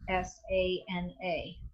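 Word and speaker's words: āsana: the pronunciation is so what a long and a with a line over it means is it's really a a as a n/a right asana is held twice as long right so I'm just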